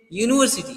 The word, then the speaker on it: university: University means not Unity you just try to pronounce it like you and umbrella but a